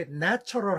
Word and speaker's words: natural: 근데 생각을 해 보니까 그 natural 할 때 맨 앞에 A네 하는 거 있죠. 낮게 강하게 길게 깔리는 소리를 우리가 발음을 잘 안 하는 거 같아요.